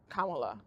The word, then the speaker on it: Kamala: Kamala. That exactly it. Like, I'm not even saying that because I can't pronounce her name, but I'm telling you, like,